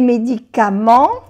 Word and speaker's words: médicaments: Vous prenez des médicaments. Et médicament no se pronuncia la T y la S que es plural tampoco se pronuncia.